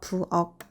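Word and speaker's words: 부엌: 정답은 부억의 받침 키읔과 박의 받침 쌍기역은 모두 대표음 기역으로 발음되어 부억, 박으로 발음합니다.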